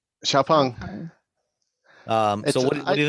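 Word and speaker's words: XPeng: at all spelling wise I had no idea how to pronounce the name of this to it's spelled XP n g but it's it's Shia pong xia pong um so what do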